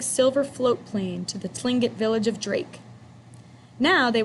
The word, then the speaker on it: Tlingit: Garvey said he was a Tlingit Indian, pronounced Tlingit, proudly with a clicking of his tongue, as if saying Tlingit.